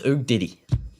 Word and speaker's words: Ugiddy: Ugiddy is pronounced UG Diddy. No, it's Ugg Diddy.